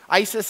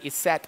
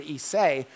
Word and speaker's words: Isis: Isis is actually a modern mispronunciation of the word Iset or Isay, which is the way it was originally pronounced.